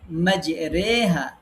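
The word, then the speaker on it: مجراها: এমালা হচ্ছে এটি আলিফ এবং ইয়া এর মাঝামাঝি ভাবে উচ্চারণ হবে। আলিফ আর ইয়ার মাঝামাঝি একটা উচ্চারণ হবে। যেমন মাজরেহা, এখানে রে উচ্চারণ করতে হবে।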